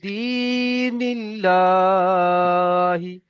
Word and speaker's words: دين الله: এখানে দাল ইয়াজের দি আছে, ইয়া মাদ্দা, এই ইয়া মাদ্দা দাল ইয়াজের দি, তাই টান হবে।